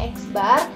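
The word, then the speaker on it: x̄: dengan expert gitu ya X kemudian ada garis di atasnya ini dibacanya eksbar merupakan sebuah simbol untuk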